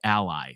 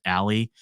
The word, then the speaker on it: ALLi: and we go by Ally so sometimes people pronounce it Aly where we go by Ally and the reason we